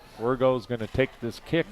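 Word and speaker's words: Wirgau: And you said that's his pronounced Wergo? Yeah, Wergo, yep.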